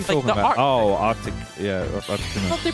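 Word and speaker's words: Articuno: Nobody pronounces, like, the second C in Arcticuno. What are you talking about? Oh, Arctic. Yeah, Arcticuno.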